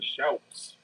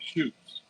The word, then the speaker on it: Schout: Cuz I always hear people say Shoots, which I understand why they say it like that.